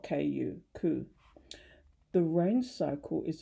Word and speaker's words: ku: state of neither existence nor non-existent is called ku pronounce and it's spelled k u ku the rain cycle is a good illustration